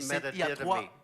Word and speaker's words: metadidomi: be able to, but it's a three-part word in the Greek. It's et metadidomi. il y a 3 parties dans ces mots. Et ces mots veut dire pédétotomie, Metadidomi.